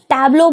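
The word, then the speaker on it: tableau: देखो यहाँ पे क्या वर्ड है, टैब्लो, क्या वर्ड है, टैब्लो, टैब्लो बोलते हैं इसको, टैब्लो। तो इसकी जो करेक्ट स्पेलिंग है ना वो होती है TABEAU, ये होती है टैब्लो की करेक्ट स्पेलिंग।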